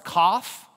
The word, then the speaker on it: Kaf: Kaf. Right? Turn your head and cough.